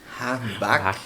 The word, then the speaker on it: Harmbach: Harbach. Isso é, eu suponho que é alemão. É alemão. Na verdade, o alemãozão mesmo é Hambach.